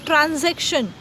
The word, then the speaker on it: transaction: I repeat the pronunciation, transaction. Alright, S છે but that should be pronounced as Z.